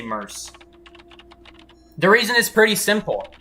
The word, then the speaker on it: merc: know m-e-r-c i say mers the reason is pretty simple mercenary when you pronounce the full name of mercenary you don't say mercanary you don't say mercury